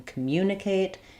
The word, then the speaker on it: communicate: have a tendency uh sometimes people have a make an error on this first syllable. um it should just have um the schwah vowel C. So even though we have words like common or complicated where letter O says the a sound in communicate it's just unstressed because the second syllable has the stress and then communicate um is how we write it. The IPA for communicate is cam mucate.